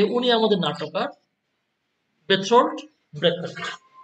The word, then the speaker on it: Brecht: হি is known professionally as বেরটোল্ড ব্রেখাট। কিন্তু ওনার নামটা কিন্তু চেঞ্জ হয়ে যায়, ওনার নামটা একটু ভিন্ন হয়, নামটা হয়ে যায় কি বেরটোল্ড ব্রেখাট। এভাবে ওনাকে উচ্চারণ করা হয় ওনার নাম।